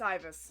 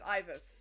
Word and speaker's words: Ibis: It's Ibis. Sorry. Yeah, her name's hard. It's Ibis. Like Ivy, Ibis.